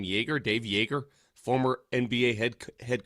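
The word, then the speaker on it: Joerger: They're talking to, and I believe you pronounce his name Yeager, Dave Yeager, former NBA head coach.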